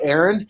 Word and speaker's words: Aron: to my good friend aaron here you have the floor sir all right i'm sorry to say that my name is pronounced aaron it wasn't originally that